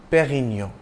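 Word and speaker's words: Pérignon: pioneer of superior champagne it's a soft D in Dom and you don't enunciate the N at the end of Perino you pronounce the preceding o nasali Perino if you have difficulty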